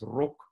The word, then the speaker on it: rok: So the word for dress in Afrikaans is rok, rok with a short o, but the word for smoke doesn't have a long o, it's rook. So it has this oe diphthong.